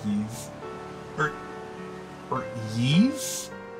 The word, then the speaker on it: Ys: yeah I think it's it's I know it's pronounced Eve or or ease but I don't know I've been pronouncing it wise for many years um really bad had